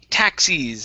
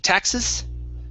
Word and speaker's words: taxis: right next up is taxis instead of taxes okay give me a long e sound taxis taxes okay one